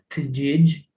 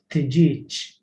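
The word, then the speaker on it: tiġieġ: And also when it is found at the end of the word, such as tijich, you say it with a ch. You don't pronounce it tijij, you say tijich, which means chicken.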